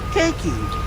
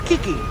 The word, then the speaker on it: Cakey: say it all right it's simple it's like cake key cakey but everyone goes kiki okay i give up